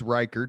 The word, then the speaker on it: Ryckaert: So So your last name is Riker, but it is spelled Yeah, it's R Y C A R T.